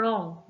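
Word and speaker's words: wrong: Next word है रॉन्ग। रॉन्ग में डब्ल्यू।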